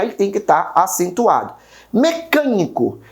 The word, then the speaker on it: mecânico: Mecânico. Percebe que o can de mecânico também, né, é a minha terceira sílaba de trás para frente pronunciada com mais força, ou seja, a minha antepenúltima.